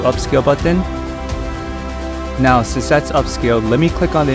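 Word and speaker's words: Upscayl: Upscaled is spelled U-P-S-C-A-Y-L.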